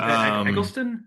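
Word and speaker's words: Eccleston: Elisten. Ekon. I say that guy's name wrong. the bad guy from G.I. Joe. I think it's Eckleston.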